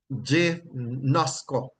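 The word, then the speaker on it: γινώσκω: And it is pronounced gnosko, right? Gnosko, right?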